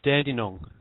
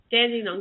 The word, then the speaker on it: Dandong: how d n d n o n gs pronounce dandong dandong that's where she's from are you anywhere near